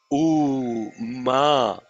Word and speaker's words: Om: o ma actually inar there are only two syllables a it is not ma people are saying you don't say you don't say like that no you say you're closing the lips so it is it a there are three three sounds but only two syllables ah and um so if it starts with a and ends with um it's om if it starts with